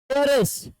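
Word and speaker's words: heiress: ठीक है, ये जो है ना एरेस, एरेस कहते इसको, ठीक है, हाँ ये कहते एरेस। तो अब बताओ यहाँ पर एच जो है साइलेंट हो जाता है और इसको पढ़ते एरेस।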